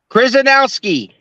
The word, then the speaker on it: Chrzanowski: And joining us from Amarillo, Texas is referee Parker, let me say it right, Chrzanowski.